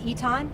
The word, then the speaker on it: Eytan: name really quick yes my name is eton it's spelled i-r-i-s-e-y-t-a-n